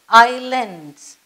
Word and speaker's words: islands: Do not ever say islands because S is silent here and it is islands.